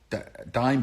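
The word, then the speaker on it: Daim: Is it called a dime or a dame? D-A-I-M. How do you pronounce that? I think it's dime bar.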